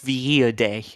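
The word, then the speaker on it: Villadei: And apparently it's Villa Day.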